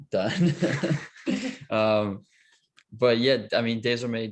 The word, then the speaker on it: DAYSORMAY: But yeah, I mean, DAYSORMAY just kind of came from, it's from the French word DAYSORMAY, but we kind of spelled it out phonetically so it'd be easier for people that weren't French to get it.